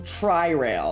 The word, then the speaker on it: Tri-Rail: It's not train rail, it's some Tri-Rail.